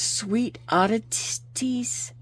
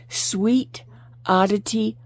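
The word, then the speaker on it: Sweet Oddity: really quick um it's sweet aties let me let me say it correctly sweet odity art on Etsy and so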